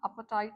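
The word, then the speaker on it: Apartheid: पे वहां पे था अपेटाइट सिस्टम इसका प्रोनंसिएशन क्या होगा अपेटाइट अपेटाइट सिस्टम लिखने में अपार्थट जैसा लग रहा है लेकिन बोलना है इसको प्रोनाउंस क्या करना है अपेटाइट अपेटाइट system was there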